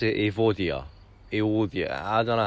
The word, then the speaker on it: Evodia: If you wonder what that tree is, this is called, well, we pronounce it Evodia.